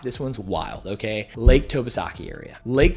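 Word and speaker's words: Tobesofkee: Okay, Lake Tobasaki area. Lake Tobasaki. I'm going to spell it for you because when you go and drive and see a yard sign, you won't have any idea.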